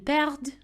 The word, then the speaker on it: perdent: Ils perdent. Elles perdent. Here again, the ENT ending is silent, but we do pronounce the D.